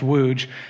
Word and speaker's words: Łódź: And we went to Poland to do some mission work where we worked in a town called Łódź, spelled L-U-T-Z, pronounced Łódź.